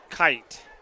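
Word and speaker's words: Keyt: and goes up the middle for about three yards Braxton Vance that's Vance we got Vance and kite k-e-y-t ocks and I'm glad they told me how to pronounce that because I would not have pronounced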